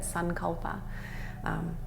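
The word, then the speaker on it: सङ्कल्प: with a saying or a sankalpa as it's pronounced in Sanskrit, sankalpa, something that fits even better with you.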